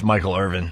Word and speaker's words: Michael Irvin: And yes, Jimmy, it's Michael Irvin. I always pronounce the G.